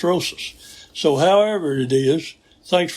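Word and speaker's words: Rosas: Now I had pronounced it Rojos several weeks back and Hans Lamman told me that was wrong and he said it's Rosus.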